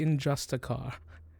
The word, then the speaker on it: Injusticar: It's pronounced the Injusticar.